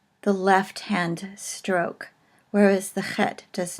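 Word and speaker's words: חית: because it is a chet and it is called a guttural, and it is sort of pronounced in the back of the throat as in the name Loch or Bach.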